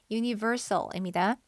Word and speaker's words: universal: 유니버셜이라고 발음하지 않고요. universal입니다. universe, 우주 할 때 universe에서 온 말이에요.